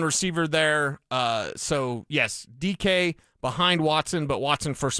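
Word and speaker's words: Dike: last name correctly, Kamari DK. Tennessee. D-E-K-E? D-I-K-E. Oh, yeah, DK. And so just think like DK Metcalf.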